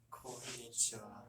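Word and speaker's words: こんにちは: 곤니치와, konnichiwa, 콘니치하. konnichiwa, 자, 저녁 인사로 갈게요. 코은, 빠은, 뭐라고 읽을까요?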